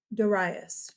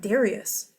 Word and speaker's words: Darius: Then we have a new king, Darius. Did you hear me? It's not Darius. It's a modern pronunciation. Darius.